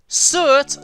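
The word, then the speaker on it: Surt: Cert, sometimes spelled with a silent R on the end, is a Jotun of fire in Norse mythology, and the ruler of Muspelheim, the realm of fire.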